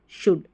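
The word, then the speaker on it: should: इसको हम cooled, वुल्ड, शुल्ड नहीं पढ़ते, हम पढ़ते हैं कुड, वुड, शुड, ऐसे।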